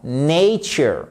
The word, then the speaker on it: nature: A quiet weekend a quiet weekend in nature et pas nature. Non, nature, nature, nature, Ici, vous avez l'accent tonique, vous le voyez ici en phonétique. Pas né, mais nature.